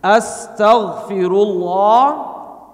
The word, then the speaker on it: Astaghfirullah: Can we practice once with 5 syllables, please? Astaghfirullah. Perfect. Always on the 5 syllables.